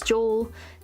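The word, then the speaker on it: 常: This becomes normal or regular or continual, pronounced as jo, tsune no, or toko, unending.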